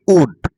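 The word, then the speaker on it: would: মনে রাখবে কোন শব্দে যদি এল এর পরে কে এফ এম এবং ডি থাকে তাহলে ওই শব্দে এল এর উচ্চারণ হয় না অর্থাৎ এল এর উচ্চারণ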